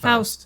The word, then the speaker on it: Faust: I lost a lot of context in this movie, especially regarding Faust. Faust. What? How do you pronounce it? Faust. Faust.